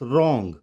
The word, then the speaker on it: wrong: W is silent if word begins with WR। अगर word WR से start होगा तो वहां पर W साइलेंट हो जाएगा। जैसे WRONG, इट्स रॉन्ग, WRITE, right, WRAP, रैप,